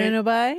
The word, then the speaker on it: bueno bye: Bueno bye? So it's bueno bye with the B barely pronounced, right? Pronounced like a W?